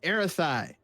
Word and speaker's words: Zarathai: He told you the Z is silent. It's Aerathi.